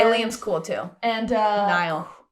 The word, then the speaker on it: Niall: cool too and uh Niall not Nile who is remember his